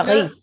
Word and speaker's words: riz: Ensuite, vous avez le riz, il no se prononce la Z. Ajá. Le riz.